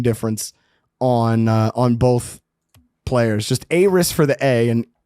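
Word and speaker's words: Aeris: Yeah, Aris, like, think of the A, it's more pronounced like A-E-R-I-S, like Aris. And then Eris with the E is just Eris. Like a short E. But Aris would be just pronouncing like the A.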